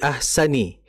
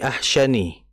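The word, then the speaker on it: أَحْسَنِ: Kemudian ee tadi fi ahsani ee fi ahsani itu makai sin ya, bukan fi ahsyani.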